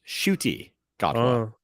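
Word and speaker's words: Ncuti Gatwa: So Oh, his name is pronounced Shuti Godwa.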